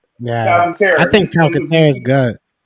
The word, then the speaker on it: Calcaterra: But I think even you got Stoll and Goddard, and then how do you pronounce Grant's last name? Calcaterra. Yeah. Calcaterra.